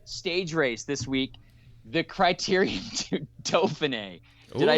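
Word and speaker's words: Critérium du Dauphiné: There was a stage race this week, the Criterium du Dauphiné. Did I say it right? Nailed Evan? the pronunciation.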